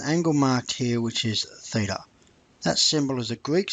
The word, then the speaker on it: theta: it has an angle marked here which is Theta that symbol is a Greek symbol pronounced Theta and spelled like that now notice here that